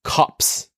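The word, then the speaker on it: copse: effect H yeah and our final word is cops c o PS e it's a noun it's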